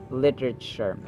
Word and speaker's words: literature: the second syllable where Actually t is pronounced as d sound to sound like an American speaker literature literature or literature literature